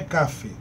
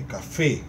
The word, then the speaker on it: café: Não é café, é café. Então a tonicidade está na última sílaba.